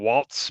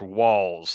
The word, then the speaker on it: Walz: uh I keep saying Waltz but apparently it's pronounced walls like w l LS like walls like walls in a house I'm G mess yes